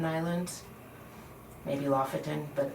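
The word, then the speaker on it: Lofoten: I think it's pronounced Lefotan Islands, maybe Lafetan, but I think it's Lefotan Islands.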